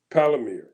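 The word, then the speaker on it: Palantir: is Peter teal he has a company called palir I guess that's how you pronounce it p a l a n t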